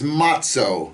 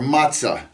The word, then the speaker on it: matzah: Uh, the words for leavened bread and unleavened bread, uh, unleavened bread is matzo or matzah.